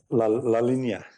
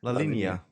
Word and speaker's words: La Linea: How do you pronounce it? Linea? La Linea. La Linea.